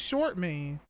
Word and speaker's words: Shortman: What's going on, Short Man? Yep. His last name was Short Man. I think Grandpa Lou was just saying it weird. I think it's just Shortman. It's spelled Short Man.